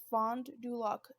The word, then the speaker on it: Fond du Lac: me one second okay i guess it's pronounced exactly how it looks but uh fond du lac denis line first nation